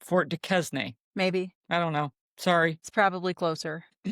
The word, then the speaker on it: Duquesne: Duquesne. Okay, you don't pronounce it qua, you pronounce it ka. Just act like it's a K. Fort de Quesnay.